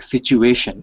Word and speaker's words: situation: and i found it it is like situation it's not tea it's cheap situation situation yeah we would say situation with a CH sound and we actually have